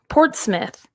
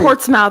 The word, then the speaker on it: Portsmouth: The Portsmith. How you say it? Portsmith. Okay, you said it right. It's not Portsmouth.